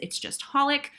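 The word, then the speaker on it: xxxHOLiC: You don't pronounce the X's, it's just Holic.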